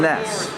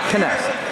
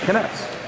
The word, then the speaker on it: Kness: Noah Angst is wrestling Loyola Blakefield's Ryan Ness. Again, we are in... Oh, my son is correct. It is Kness. K-N-E-S. That's what it's pronounced. Kness.